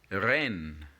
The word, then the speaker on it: reine: Reine. Reine. And again, you realize when you pronounce the word reine that EI obviously has the same A pronunciation. That's why the word is pronounced reine.